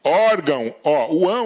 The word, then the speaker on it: órgão: aqui ó desculpa nesse caso aqui de órgão é átono tá então a palavra é paroxítona e o ão é